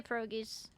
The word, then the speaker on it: pierogies: I say pierogies. But that's how, like, my Ukrainian grandparents said it.